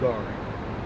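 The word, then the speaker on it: גר: It's pronounced Gar.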